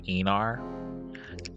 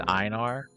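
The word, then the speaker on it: Einar: different some people say inar some people say enar I pronounce it as inar inar is s tier all the way iar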